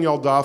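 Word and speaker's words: ילדה: queen malka and yeladin yaldah form the same pattern there were a bunch of words in Hebrew that when you make them feminine the e sound changes to an ah so you have I'm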